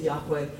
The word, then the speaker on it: Yahweh: their God and that we don't know for sure how it was pronounced but the standard pronunciation that we work with today is Yahweh and I'll be I'll